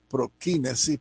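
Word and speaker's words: προσκύνησις: griego y en latín la palabra en griego ya lo decimos que se pronuncia prokinesis prokinesis significa el gesto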